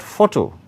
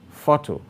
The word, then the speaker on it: photo: Its emphasis lies on the first syllable, thus. Photo, photo. So the primary stress is on pho.